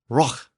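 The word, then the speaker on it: rūh: In Old English, rough was spelled R-U-H. It was pronounced roch.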